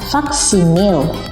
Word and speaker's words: faksimile: Meskipun cara membacanya faksimil, seperti itu ya.